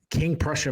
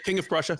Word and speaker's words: King of Prussia: I was in the Valley Forge King Prussia Pria I apologize if I'm saying it wrong King of Prussia yeah King of Prussia okay say that I was